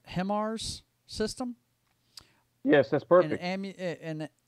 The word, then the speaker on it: HIMARS: possibly from ah i want to say i'm pronouncing this right himars system yes that's perfect an ammunition store in